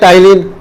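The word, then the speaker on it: ptyalin: प्यार से बोलते हैं टाइलिन। पेटालिन नहीं बोलना, वो पी साइलेंट रहता है उसमें, जिसको लोग बोलते हैं टाइलिन।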